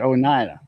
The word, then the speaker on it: Oneida: That's how you pronounce it, Oneida.